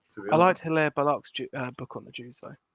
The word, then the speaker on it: Hilaire Belloc: Is it Hilaire Belloc?